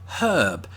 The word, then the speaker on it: herb: stuff is the word herb and as you heard just there i pronounced it with an h at the beginning because there's an h there that's probably something you should do although to be